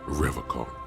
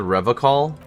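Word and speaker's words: Revachol: logs at his feet he pronounces River car it's a hard K unlike other people you said revocal I like to pronounce it the hard way the old way the Vesper time way he nod solemnly the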